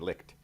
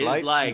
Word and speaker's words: Licht: One, is that how you pronounce Licht? Because I've never actually heard it said out loud. I've always just said licked. Yeah, light, right? It's just light. Because I once said licked on TV and was embarrassed as a result.